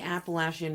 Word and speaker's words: Appalachian: As I said, written and directed by Colin Henning, Appalachian Dog stars, in addition to Colin, Georgia Morgan, Haley Hart Franklin, Brooke Elizabeth, and Aaron J. Stewart. It was shot on location in the Appalachian Mountains in North Carolina.